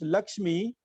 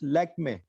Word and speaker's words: लक्ष्मी: So now if you ask a Britisher to pronounce Lakshmi, he'll pronounce Lakme. Okay, okay. That's the way Britishers pronounce.